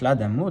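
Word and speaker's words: lacs d'amour: lac d'amour, du fameux, donc qui se prononce là d'amour, du fameux nœud de Savoie, 3 nœuds de Savoie, et vont apparaître les roses, symbole de la Vierge.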